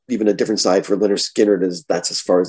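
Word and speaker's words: Lynyrd Skynyrd: my fourth tune so it is pronounced leonard skinner yes um simple man's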